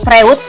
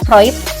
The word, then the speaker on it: Freud: namanya cat metroid ya Jadi bukan Freud ya bacanya vroid Nah Bapak psikoanalisa ini